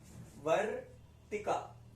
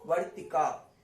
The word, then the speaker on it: वर्तिका: वर्तिका, वर्तिका, last में आ है तो उसको दीर्घ खींचेंगे, वर्तिका, वर्तिका, वर्तिक नहीं, वर्तिका।